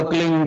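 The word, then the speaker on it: क्लीं: एक शब्द क्लीन शब्द कह आधा लय में मिला हुआ बड़ी एक ही मात्रा और बिंदी, उसका उच्चारण होगा क्लीन गा, गा की ध्वनि निकलेगी पीछे।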